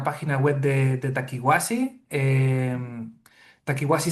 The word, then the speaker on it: Takiwasi: Eh Takiwasi se escribe conforme suena, pero con K y con W.